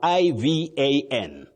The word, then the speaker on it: Ivan: But remember, we have that name which we have as I V A N. Don't say so and so. You say Ivan. Ivan.